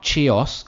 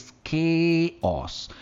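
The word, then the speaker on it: chaos: हम कहते हैं केओस, नॉट चेओस, इट इज केओस। एक बहुत ही बढ़िया बात बताता हूं आपको। मैक्सिमम वर्ड्स जो इंग्लिश लैंग्वेज में सी से जो शुरू होते हैं ना, वो के से ही प्रोनाउंस होते हैं, केओस।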